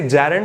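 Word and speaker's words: gerund: बनाई जाती है, जिसे जैरंड कहा जाता है। जीरंड शायद आप ना बोलते हो, मेरे शहर में जीरंड बोला जाता है, गलत प्रोनाउंसिएशन है, ऑक्सफोर्ड से चेक कीजिए। जैरंड प्रोनाउंसिएशन होता है वर्ब की ING फॉर्म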